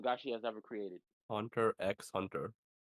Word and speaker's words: Hunter x Hunter: she has ever created Hunter x Hunter can't forget that not pronounce the X it's why is it